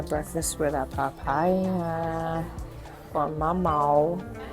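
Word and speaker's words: mamão: You guys, I'm finishing off my breakfast with a papaya or mama, is how you say it in Portuguese and a Brazilian drip coffee.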